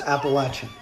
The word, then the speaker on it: Appalachian: not gonna let slide it's appalachian it is pronounced appalachian we can go over the etymology appalachian pronunciation